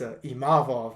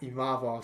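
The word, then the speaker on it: Imavov: this to Paul Felder it's imov not imov none of that imav so I got to get that one right but um yeah for those who didn't see it nardini imov TKO former dominant middleweight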